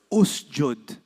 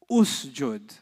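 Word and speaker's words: اسجد: The letter right before the sukoon had u. You will put u. If it doesn't have an u, you will put what? How do you say do sajda, the command? Usjud. Usjud.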